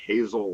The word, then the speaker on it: Hazel: ever hear my name it's actually hazel like a hazel Franklin hazel actually called you